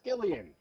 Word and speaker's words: Gillian: is I was feeling last name it's Gillian it's a hard G gajillion how about that